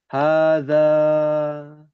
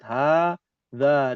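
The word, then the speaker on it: هٰذَا: Ada alif nih, alif kecil. Nih, alif nih. Hadza. Dua harokat. Hadza, dua harokat.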